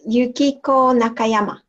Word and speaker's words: Yukiko Nakayama: Do you want to hit me with it one time so I can hear how it's properly pronounced? It's Yukiko Nakayama.